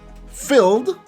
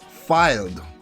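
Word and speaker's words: Fylde: Peter Milton he says filled like AFC filled the team the non league team it's pronounced filed like I filed your report thank you very much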